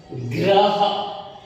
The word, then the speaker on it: ग्रह: जब इसके नीचे लगा हुआ है रा, पूरा उसका उच्चारण होता है, प्रोनाउंसिएशन होता है, लेकिन जिस अक्षर से वह जुड़ जाता है वह आधा हो जाता है, ग्रह।